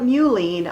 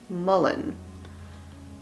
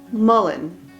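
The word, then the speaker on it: mullein: up the i always want to call it mulene i have called it mulene for as long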